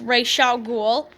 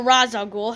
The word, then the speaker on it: Ra's al Ghul: So, number 10 on my list is, of course, Ra's al Ghul, or Ra's al Ghul, however you want to pronounce it. I've always said Ra's.